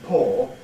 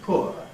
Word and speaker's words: poor: In the opinion poll that I carried out, I found that 57% of my respondents preferred the pronunciation poor, and only 43% of them prefer the pronunciation poor.